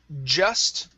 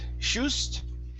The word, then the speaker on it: just: word here is um just right here instead of shust okay it's a j just sound so just try that